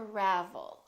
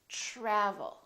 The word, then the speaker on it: travel: with TR try travel we don't say to Ravel or travel we say travel tradition tradition let's try